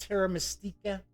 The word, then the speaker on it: Terra Mystica: expansion for terra miss I think it's mystique yeah his house pronounced Terra Mystica it's coming early next